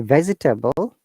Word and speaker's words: vegetable: to ignore it so in a vegetable this e after v e this is show sound so we don't have to pronounce it the vegetable becomes vegetable so you pronounce like this vegetable yeah patch table yeah